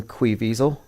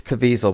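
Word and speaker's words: Caviezel: Tim Bellard played by Jim quisel it's cisel but I spell it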